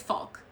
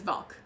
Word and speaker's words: Valk: that when it translated, instead of like Varuku, which you can spell it as Varuku, it's spelled as Faruku. So her name is Falk. And I don't, like, they're like, why? Why do you translate it to Falk? Her name is Valk.